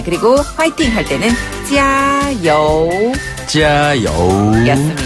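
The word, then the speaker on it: 加油: 찌아우라고 하는데요. 그래서 찌아 여우 할 때 찌아는 같은 음으로 고르게 길게 찌아. 그리고 여우는 밑에서 위로 여우 여우.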